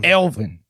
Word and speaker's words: Elvin: that what is it it's Alvin like the like the little rodent no it's Elvin okay Elvin a a